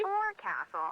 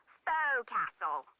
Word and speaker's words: forecastle: forecastle on a ship refers to the upper forward deck of a sailing ship, but it's pronounced... Oh, she is edutaining. Why's that? Try pronouncing it like an English sailor with no formal education.